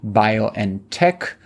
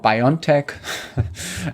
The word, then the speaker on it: BioNTech: in the mines based bio and Tech which is the German pronunciation of what Americans called biontech and it is um the company famous for producing the covid vaccine together with fizer yes in in the US use it's always fiser the fiser vaccine and